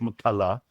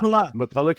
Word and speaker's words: McCullough: I say it McCullough, but that's perfectly fine. McCullough is perfectly fine.